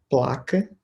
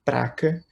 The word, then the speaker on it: placa: dizer que é errado, palavras como, por exemplo, placa, dizer praca, ou bicicleta, dizer bicicleta.